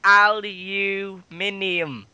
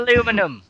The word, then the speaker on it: aluminium: it again me yes say aluminium not aluminum we say aluminum over here you're wrong well what is this